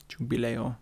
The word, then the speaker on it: Giubileo: Yeah, Giubileo. Jubileo.